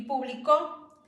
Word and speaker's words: publicó: Por ejemplo, en la palabra público y publicó, al solamente ponerle el acento en diferente vocal, cambia su significado.